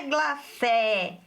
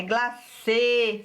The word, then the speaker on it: glacê: Olha lá que interessante, o acento circunflexo, não é glacé, é glacê, fechado.